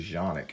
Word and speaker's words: Canik: here this is the canik tp9 SF elite it is a wonderful gun a lot of people it's actually a jean ik as the way it's pronounced a lot of people give Kanak crap but I will